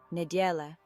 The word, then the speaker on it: neděle: Neděle, neděle, ne as in net, die like the color, and le like the start of lemon. The E at the end is pronounced softly.